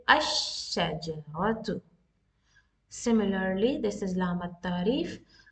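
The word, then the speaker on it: الشجرة: No, we will not pronounce the al here, because the next letter is with shadda. So what this lam is from Shamsiya letter, some Shamsiya lam. So we will say ash-shajaratu.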